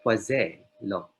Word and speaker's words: Poiseuille: Pero silent L daw, Poiseuille law.